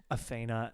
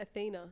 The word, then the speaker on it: Athena: Athena. I know, it's a feat. Athena and TH, Adrian. like a TH sound. Like an F F- sound.